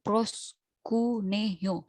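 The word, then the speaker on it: προσκυνέω: Bacanya tuh proskuneo.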